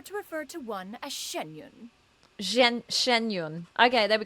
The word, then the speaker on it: Xianyun: occasions be sure to refer to one as shenyun Shen shenyun okay there we go shenyun Shen Yun Shen Yun now I got the pronunciation better Shen Yun all right you love